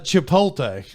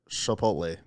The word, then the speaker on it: Chipotle: what do you say I think it's Chipotle I don't think it's shapot hold up hold up